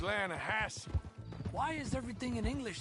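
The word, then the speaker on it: Lannahechee: other day I roll it down to the Lana Hetchy River I caught some beautiful steelhead trout you made an elaborate no no no the Lana hatch it runs right near here yeah but it's pronounced Lana Hass why is everything in English said differently than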